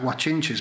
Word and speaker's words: Guanche: page that talks about watch inches but it's not spelt that is spelt I'll tell you G you a CH i n CH e watching gee this is